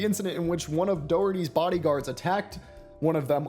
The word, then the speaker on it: Doherty: How do I pronounce that? Jack Doherty finally. Doherty.